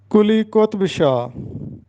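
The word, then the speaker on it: قلی قطب شاہ: نام حاضر خدمت ہیں۔ پہلا نام ہے کلی قطب شاہ۔ یہ درست تلفظ ہے کلی قطب شاہ، ہم اس کو پڑھتے ہیں کلی قطب شاہ، جو کہ غلط ہے۔ کلی قطب شاہ، قطب کا مطلب ہوتا ہے برگزیدہ، سردار، تو درست تلفظ ہوگا کلی قطب شاہ۔ کتاب کی جمع کتب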